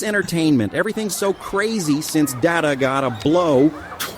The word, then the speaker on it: Data: Data? Dr. Pulaski, my name is Data. Yeah, that's what I said. Data. No, you misunderstand. It is pronounced data. You, however, are pronouncing it like data.